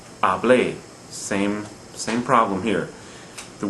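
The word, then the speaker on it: hablé: a verb form like ablae same same problem here the word when it's pronounced correctly i spoke ablae stresses the final syllable although it ends in a vowel so it violates rule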